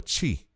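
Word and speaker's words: tshi: that's t s t s h i a chi that's how you say it which indicates a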